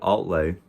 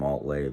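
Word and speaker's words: Altlay: But Altley is the name of the town that we lived in for 2 different years out of the 3. And it's spelled the same way it's pronounced, Altley, A-L-T-L-A-Y.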